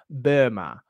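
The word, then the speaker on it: Böhme: next one um Jacob Burma Yucca Burma so I don't speak German but I know that you're technically supposed to pronounce his name Burma uh so yakub Burma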